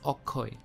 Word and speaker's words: Akshay: deepika in awkward so instead of saying akshay he says okoy as you see bengali